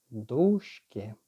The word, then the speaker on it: дужки: Так ось, правильно, дужки на перший склад наголос.